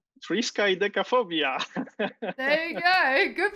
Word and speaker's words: Triskaidekaphobia: Triskaidekaphobia. Frisky Decaphobia. There you go. Good pronunciation.